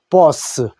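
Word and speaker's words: boss: 그냥 요 자만 나오더라도 그냥 쓰라고 읽는다는 겁니다. 자, 보스. 알겠죠? 보스.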